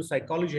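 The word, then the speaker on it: psychology: اي واحد نيتيف اوف انجلش لو قلت له سايكولوجي هيكتبها في اولها بي، وقلت له اكتب daughter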